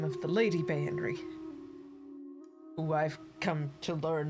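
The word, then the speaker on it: Baenre: Bayenry.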